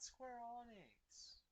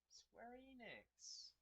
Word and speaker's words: Square Enix: square onyx hopefully it's not square onyx square enix get it right dumbass